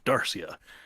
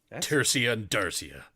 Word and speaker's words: Tersia: be dead now oh tersia yeah i i mispronounced it with a th at the front not a d um that rivalry was